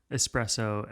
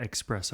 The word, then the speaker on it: espresso: x specially for sure don't ever espresso expresso rule yeah etcetera etcetera do say